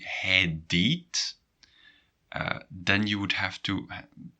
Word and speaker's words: hij deed: And how do you pronounce it? And that's a little tricky. Hij deed.